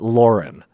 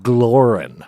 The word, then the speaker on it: Glorin: That Rye is trying to win back, and her name is not Lauren. No. Glorin. Yeah. It's Glorin, okay?